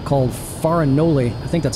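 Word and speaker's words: Farinole: It ends with an E, not an I. I don't know how Italians say words that end with an E, but it looks like Farinoli.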